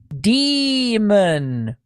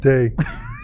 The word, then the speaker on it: daemon: Copyright 1959 shows the pronunciation of D-A-E-M-O-N to be demon. Oh, how weird. Demon. No, day. Yeah, I mean, No, Long E. Day.